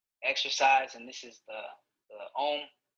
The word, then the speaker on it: Om: We're going to do one final breathing exercise, and this is the Om. Om is actually in 3 syllables. So it's Ah, U, and then So we're going to